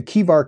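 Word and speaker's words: Chebar: But he mentions during that description that he was at the Kivar Canal. It's spelled C-H-E-B-A-R, but it's Kivar Canal.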